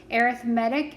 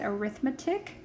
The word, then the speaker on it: arithmetic: arithmetic sequences and series arithmetic is spelled the exact same way as arithmetic so think um you know the word read like i read a book can also be i read a book it's kind of the same idea there an arithmetic sequence